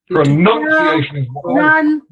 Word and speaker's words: pronunciation: oh not green sorry can we say it pronunciation yay so it should be on the fourth one yeah four or five pronunciation okay it's word